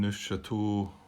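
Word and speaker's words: Neufchâteau: you should go on in new chateau the town here that's how you pronounce it um with method b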